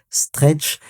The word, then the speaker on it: STRC: Quatre petites lettres mais ça se prononce stretch.